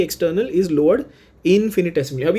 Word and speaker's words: infinitesimal: इनफाइनाइट, ध्यान से देख लो, इनफाइनाइट सिमल ऐसा है, बट the pronunciation is इनफिनिटेसिमल।